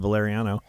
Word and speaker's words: Valeriano: might when I was my last name is valeriano pronounced valeriano and I have got